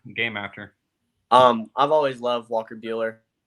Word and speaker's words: Buehler: I've always loved Walker Buehler. Funny because his is spelled the same as mine with a B, but it's said completely different. He's Buehler, I'm Keeler.